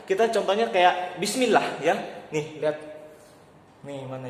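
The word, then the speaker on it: بسم الله: Kalau misalnya tipis itu kasroh itu yang ada di bawah dan dibacanya bukan Allah lagi tapi ilah. Kita contohnya kayak Bismillah ya.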